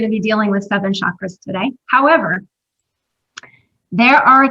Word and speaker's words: chakra: are only going to be dealing with southern chakras today however there are a total of 88